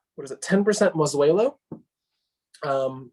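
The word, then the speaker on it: Mazuelo: so it is what is it ten percent mozzuelo um masuelo is the spanish name for karen yon which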